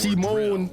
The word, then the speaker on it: Simon: Until the day he found the pronounced Simone.